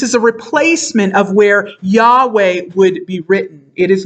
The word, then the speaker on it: Yahweh: Actually, Jews consider the name of God to be so holy that they do not even say God's name, which we pronounce as Yahweh.